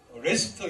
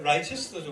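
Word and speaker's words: Leicester: 유나이 체스터 카스터 뭐 레스터 이런 거는 전부 다 세스터 시스터 이런게 옛날에 로마시대때 경이 있던입니다 그걸 스라 그어 그러니까 체스터 이 이제 라이스터 원래 라이스터 레스 레스토라 발음하지만 이런 거는 다 어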